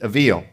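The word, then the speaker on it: אויל: The Hebrew word for this is avil. That's how you'd pronounce it, avil.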